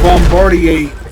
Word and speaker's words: Bombardier: More specifically, Brick with the Bombardier class mod. And yes, that is the correct way to pronounce that. It's a French name. Yes, it comes from a name.